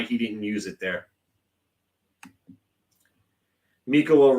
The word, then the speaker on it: Mikkola: Mikkola rhymes with Ricola, and yeah, he should be on the 3rd defensive pairing.